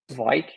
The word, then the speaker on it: Vike: There are other projects like uh Vike I think it's pronounced like VIT but with a K.